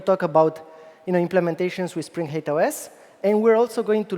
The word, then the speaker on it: HATEOAS: a terrible acronym, unfortunately, and it's pronounced in a variety of ways. I'm personally calling it HATEOAS. It's Hypermedia as the engine of application state. You can pronounce it however it feels natural, but yeah, it's not a great acronym.